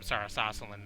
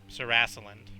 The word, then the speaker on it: Sarasaland: that was from from Sarris Asselin now sarasu 'land i'm being told by a nerd is how it's actually pronounced y'all throw that che to